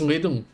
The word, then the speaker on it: little: You like it's the pronunciation is more with a D than a T, but it's little.